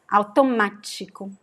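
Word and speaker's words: automático: last syllable would be so when you see the accent here we know that the stress is actually here repeat after me which means pumpkin analysis automatico automatic automatico so whenever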